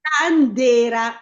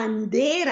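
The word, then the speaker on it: andéra: Landera quindi è sulla E. Perfetto, dobbiamo metterlo, è una parola piana. È una parola piana, quindi teoricamente non dovrebbe esserci. Però la vocale è la E, dunque, Quindi ci va. certo. E come lo mettiamo? Acuto o grave? Acuto? Certo, la Andera.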